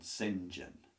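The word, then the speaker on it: St John: the brother's called Sinjin it's actually Saint John is how you is how it's written but when you pronounce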